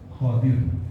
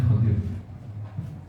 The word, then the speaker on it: Khadir: kha wa kasri ad Khadir. Jadi bacanya Khadir. Khadir. Cara baca Nabi itu ini kayak yang ditulis di kitabnya. Khadir. Pakai fathah kha-nya, kha, dotnya kasrah. Khadir. Wa yajuzu iskanu dot ma'a kasri kha.